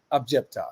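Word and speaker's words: عجبت: Sometimes, we just, even though the word is objecta, but when we recite, we don't usually say the end of it sometimes.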